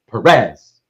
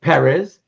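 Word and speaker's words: Pérez: that's why it always for most most people in the english- speaking World it becomes Perez you emphasize the second syllable you know but for for George I always try to say perz because of the fact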